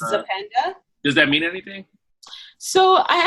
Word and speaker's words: Zapenda: Can you pronounce it again? It's Zapenda.